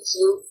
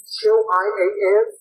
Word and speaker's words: Qian: So remember, Pinyin is a little bit funky, so Qian is actually Chin. You would pronounce it as if it was spelled Chin.